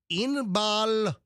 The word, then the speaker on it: Inbal: psychic a psychic astrologer by the name of Inbal honigman okay first name is spelled i n b a a l Inbal